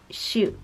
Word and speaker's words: しょ: of the combo characters, so it's not shi and yu separately. It's supposed to be a combo, so it's like shoot. And my teacher helped me with pronouncing all of these what's it called? Yo-on combination. So this is sho.